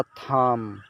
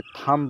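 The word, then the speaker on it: thumb: है ठीक इसी तरह थाम थाम इसे थांब नहीं पढेंगे थम हम पढेंगे क्योंकि हम के बाद भी आया है इसलिए साइलेंट रहेगा इसी तरह डम है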